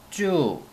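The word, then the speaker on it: 猪: 자, 그리고 중국어는 쭈라고 하는데요.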